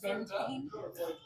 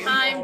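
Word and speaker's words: Vindheim: it's actually Vintane. Vintame is I have technically heard the Vintane Herald say it 3 different ways in one chorus. Because they're wrong. it's a Viking word. Yes. Saying. I am the Star Principal Herald, and I'm telling you, it's Vintane. Vintame.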